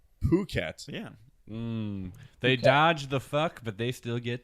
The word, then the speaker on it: Phuket: It's Phuket. Phuket.